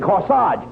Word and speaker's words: corsage: want AG it's not no no you mean corsage a GE is pronounced arch as in course Hodge and garage where did you get the corsage Oh from the man who comes to click